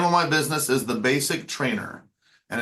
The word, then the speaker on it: Bassic: my business is the basic trainer and it's basic spelled with two s's like a string base so I tell people